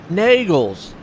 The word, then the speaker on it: Nagels: The E is silent. Long A, E is silent. Okay. Nagels. That's right.